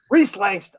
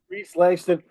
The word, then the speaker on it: Rhys Langston: Rhys Langston. Rhys Langston. I got it right the first time before you officially announced the name. I'm terrible at pronouncing everything. Good. Rhys Langston.